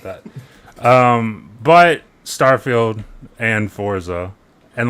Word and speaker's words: Forza: Um, but Starfield and Forza and like many Forzas like you can keep saying fortza like we're building a fort. We're not. Um, it's it's Forza.